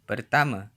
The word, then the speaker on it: pertama: Saya, meaning I, is pronounced, saya, and pertama, meaning first, is pronounced. pertama, Pertama.